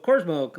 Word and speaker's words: Cormo: name James uh cormo so cormo like Cosmo Kramer uh James cormo wrote